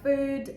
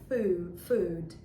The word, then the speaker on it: food: what i mean and it's really hard because it seems quite similar to the ooh sound and a lot of people go for that like food in the best case scenario but it has to be a bit higher like your tongue has to go a bit higher up and it's going to be food and i've recently come